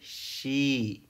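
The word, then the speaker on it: し: दोनों मिलके होगा सी, बट इसका प्रोनाउंसिएशन है शी, लॉन्ग प्रोनाउंसिएशन है तो इसे सी लिखा जाता है, फिर इसके बाद हो जाएगा सू।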